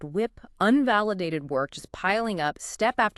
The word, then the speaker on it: WIP: That concept of WIP, pronounced whip, unvalidated work just piling up step after step without those iterative cycles and feedback loops.